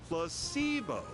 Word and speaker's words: placebo: to our vocabulary today repeat after me placeo the stress is on the middle syllable very good you're figing